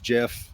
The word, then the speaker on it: GIF: Bottom line, it's GIF.